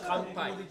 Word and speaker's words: kanpai: Kanpai. Kanpai?